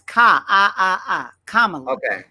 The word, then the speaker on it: Kamala: Wait, is doesn't it rhyme with Pamela? No. No? Because her mama's name is Shamala. So they named her Kamala. It's Kamala.